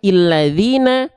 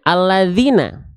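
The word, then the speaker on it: الذين: dia tidak berharakat Bang maka dibacanya Apakah illadzina ulladzina atau alladzina dibacanya alladzina dibacanya itu dengan harakat fathah Kenapa Bang Gini ya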